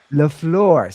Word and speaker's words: LaFleur: in is our boy I always butcher LaFleur. I always say it wrong. Matt LaFleur. LaFleur.